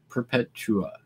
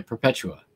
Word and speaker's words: Perpetua: point oregon coast cape perpetua perpetua perpetua yeah perpetua right that's how you say that perpetua i don't know if you're an organ and i'm saying it wrong let me know but